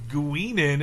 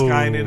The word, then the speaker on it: Guinan: And the the one that embarrassed me the most was like she was saying Guinan and I was like it's gyn like the second she said it I know it's Gynan. I was looking at everybody Gynan.